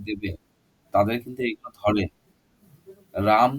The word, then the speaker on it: Rama: রাম তো লিখবে সবাই, কিন্তু রামা অ্যাকচুয়ালি রাম ওর ওর নামটা হচ্ছে RAMA, ঠিক আছে? তো ওইটা বলতে হবে। এগুলো সংস্কৃত টার্ম থেকে এসেছে তো ওই জন্য ওরকম উচ্চারণ হয় ওদের।